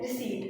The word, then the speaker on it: receipt: So P is silent before N, as in pneumonia, it's silent before S as in psychology, and it's silent before T as in receipt.